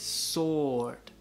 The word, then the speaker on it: sword: Sword, pero la W no se pronuncia, entonces es sword, sword, sword.